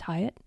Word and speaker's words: Hyatt: name is Hyatt in case you're wondering how to say my name someone wrote and asked me it's hayatt and today the guest